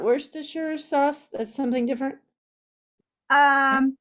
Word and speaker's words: Worcestershire: Wooster sauce is that is that that's not Worcestershire sauce that's something different um well I'm just